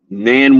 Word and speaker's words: nan: one of you, and I'm gonna say it like we say down south, not none of you, or not one of you, but nan one of you. We go N-A-N, actually N-A-H-N. Sometimes we say it like that.